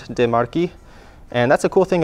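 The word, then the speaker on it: De Marchi: So we've got the CHI, a normal American would probably pronounce this DeMarchi or something. So it's actually a key sound, DeMarchi.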